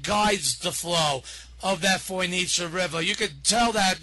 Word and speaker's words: Fojnica: Right, and what people should know about the Foinica River, and by the way, it's pronounced Foinica like mozzarella to people who want to know.